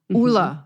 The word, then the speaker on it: Ole: Yes, that is how you pronounce his name. Ole.